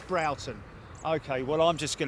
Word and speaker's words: Broughton: I said Broughton, David Jones. As in brought, as in you brought it to me. Oh, for God's sake. Someone once told me it's pronounced Broughton, and now he's telling me it's Broughton.